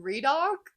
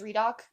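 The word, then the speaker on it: Riddick: he's great and also I call him redock in my head and I was voice typing to my friend about him and it came up spelled like r i d d i c k like Ric and I was like am I right in it's redock but whatever I'll I'll let that slide it's Ric just like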